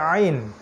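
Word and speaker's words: عين: সূরা হুদ সূরা হুদ তারপরে আইন আইন ওই যে গলার মাঝখান থেকে এইটা একটু খেয়াল করে উচ্চারণ করতে হবে আইন গলার মাঝখান থেকে আইন এবং এখানে উপরের দিকে একটু চাপ দেয়ার চেষ্টা করতে হবে আইন পেশ আইন পেশ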